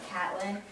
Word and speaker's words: Katlin: Because like my name is spelled Katlin, so it's like Catlin.